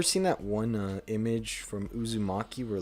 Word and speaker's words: Uzumaki: I can't pronounce it. Umizaki. Uzumaki. Uzumaki, that's what it was.